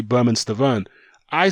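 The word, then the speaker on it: Bermane: e on the end I was calling him domain but I saw several interviews Rufus the firm where he was saying my name is not the main its Berman call me Berman don't call me boo main so I was that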